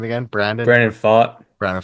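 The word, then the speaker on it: Pfaadt: Gallen Burns Kelly rrod um how do you pronounce that name again Brandon Brandon fought Brandon fought yeah uh I had some trouble with that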